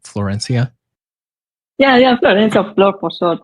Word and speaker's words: Florencia: Florencia.